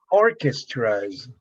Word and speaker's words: orchestras: i'm gonna check it orchestras okay the the most accent is on orchestras but the k sound is pronounced that way i don't know if